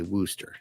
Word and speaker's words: Worcester: And so I like to say Wooster. And a lot of you like to say Wooster if you first see it, because it does look like the word rooster, and it's spelled the same way.